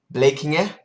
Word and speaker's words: Blekinge: The second thing is my best friend from I don't know how to pronounce it in English, but in Swedish it's blekinge, and he's coming over here Sunday.